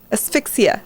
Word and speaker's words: asphyxia: Autoerotic asphyxia. Asphyxia.